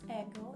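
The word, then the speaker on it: Aigle: these Fabrics the name of the round is ego it's spelled a-i-g-l-e originally it's a French brand but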